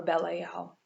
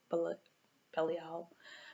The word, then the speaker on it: Belial: Or Belial, I think is how you properly pronounce it. Belial.